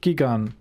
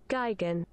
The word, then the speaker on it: Gigan: same right gigan gigan british is geigen okay it's guy again i don't know this